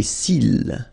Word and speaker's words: cils: Les cils. Final S not pronounced.